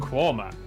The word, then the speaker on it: Quernmore: Quorma, before finishing up in Alnwick.